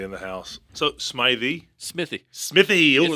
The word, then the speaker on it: Smithey: SMY in the house so SMY Smithy Smithy like me it's a weird name man I get it misspelled and mispronounced all the time so it's cool Smithy yeah Smithy oh I like that that's easy